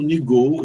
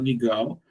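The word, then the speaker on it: NGAL: O principal deles é o NIGOL, ou NIGAL, pode pronunciar das duas formas.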